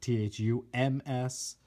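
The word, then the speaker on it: Thums Up: just a great logo Thu ms because they don't pronounce the B thumbs up good stuff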